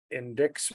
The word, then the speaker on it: indict: if Sleepy Merrick Garland indicts me that I think it's indict. now there's a C right there. Don't think it's pronounced, but it could indict you.